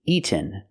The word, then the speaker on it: eaten: has eaten my dinner the word is not pronounced eaten we cannot make a fast de here we have to make a real tea eaten my dog has eaten my dinner or I can make a stop tea eat and then go